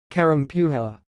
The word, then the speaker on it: Kerempuha: Puma okay let's say it again pew hella Karen pew ha that's all thanks for watching if you like